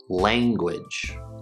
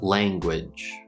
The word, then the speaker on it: language: It is not the N, n, n, n sound, it's the velar nasal.